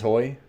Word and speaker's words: hoy: All hands hoy. My bad. I always say hooey.